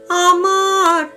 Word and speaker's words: আমার: সেটি ব হয়ে যাবে ম টা শুনতে ব লাগবে আমার মূল কাবনে আমি